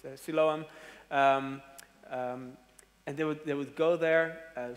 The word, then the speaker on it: Siloam: How do you say it in English? Siloam.